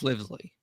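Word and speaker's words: Livesey: Is it Livesley? I don't want to mispronounce her name. I think it's Livesley. Yeah, Livesley. That's right.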